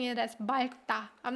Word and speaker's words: 맑다: The correct pronunciation should be 맑다. But I don't know. I'm used to pronouncing it as 맑다.